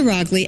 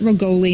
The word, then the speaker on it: Roggli: Roggli actually rhymes with Dogley. So people see my name and they don't know how to pronounce it. And it's not Roggli, it's Roggli, it's not Roggoli, and it's not Rogelli